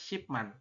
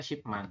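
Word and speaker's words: 십만: makanya untuk 100100.000 itu dibacanya adalah shipman artinya apa ini puluhan ribu kan Man kemudian ditambah dengan yang 10 ini di depan adalah SH seperti itu Mak kita bacanya Shi Man ya kalau misalkan ada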